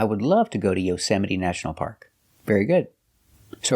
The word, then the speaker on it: Yosemite: They come from other languages, so we pronounce the E at the end, but we pronounce the E in different ways.